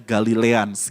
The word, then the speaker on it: Galileans: tulisan ini fontnya karena huruf a dan huruf e-nya itu menyatu gitu yaitu seperti di huruf latin jadi bacanya galileans gitu ya kita akan belajar